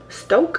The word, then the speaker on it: Stok: So I've been drinking the espresso blend from Stoke. I think that's how you pronounce it. S-T-O-K.